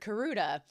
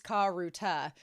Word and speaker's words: Karuta: I think you might have switched the A and the U and the U in the word Karuda. It's Karuta. It doesn't rhyme with Arata and the ASAN."